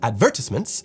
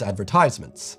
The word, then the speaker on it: advertisements: British people advertise advertisements, whereas Americans advertise advertisements. Accent on the ties versus advertisements.